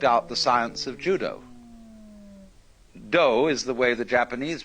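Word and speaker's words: 道: the Japanese worked out the science of Judo dough is the way the Japanese pronounced Dao Jew means gentle judo the gentle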